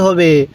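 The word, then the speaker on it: هاء: এটা আমাদের চিহ্নিত করতে হবে এই নুনের পেটে এক নোক্তা তাহলে নুন এরপরে ওয়াও এটা কি ওয়াও আরেকবার বলুন ওয়াও এরপরে হা দেখুন এই হাটা উচ্চারণের সময় মুখ দিয়ে হালকা আওয়াজ করবেন তাহলে হা হা এরপরে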